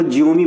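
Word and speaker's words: Xiaomi: अब एक्स को जिओमी पढ़ते हैं। जैसे सोमी अपन पढ़ते हैं ना एमआई की जो कंपनी है वो जमी पढ़ते हैं तो ऐसे ही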